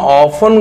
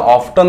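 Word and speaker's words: often: अर्थ काय होतो मित्रांनो, याला ऑफ्टन नाही वाचायचं, याला ऑफन वाचायचं, ऑफन, ऑफन. त्या ठिकाणी जरी टी हा टीचा स्पेलिंग असेल, टी स्पेलिंग असेल, पण त्याचा उच्चार मात्र टी ट नाही आहे, ऑफन आहे.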